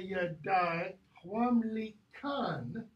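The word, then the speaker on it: gedæghwamlican: It depends on whether you're saying the C there is governed by the it that comes before or the a that comes after. Okay? So if you do this, if you pronounce that as ch or as k, either one's going to be fine with me.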